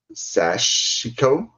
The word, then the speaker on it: sashiko: I am so sorry if I say this wrong, but like sashiko, and whip stitches. Ah. So it's spelled sash and then IKO. So I don't know.